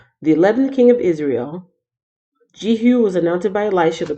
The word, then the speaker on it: Jehu: people get starstruck at their golden Oh see Jehu oh I've been saying his name wrong it's jeehyun jeehyun I do not know